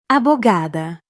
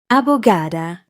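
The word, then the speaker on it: abogada: Abugada. Abugada. Abugada. Your turn. Repeat after Lucia. Four syllables. Wait on gay. Abugada.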